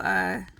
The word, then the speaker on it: Guy: Let's say good morning to Guy. If you're new here, Guy is short for guidance, but pronounced like Guy Savoy because why not?